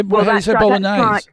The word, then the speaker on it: Bolognese: How do you say bolognese?